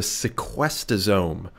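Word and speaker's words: sequestosome: is also called the sequester's ohm every time I say that I want to say it like in an epoch the sequester's ohm and because it its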